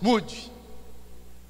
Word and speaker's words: Moody: Não é mudo não, viu, irmãos? Moody.